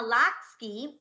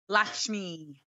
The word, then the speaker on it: Lakshmi: what you guys recently Top Chef host Padma lacks key as I say her name Lakshmi Lakshmi there we go I had yo she